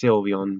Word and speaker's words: Sylveon: And I don't know how you pronounce it. I think it's Sylveon, but that's pretty cool.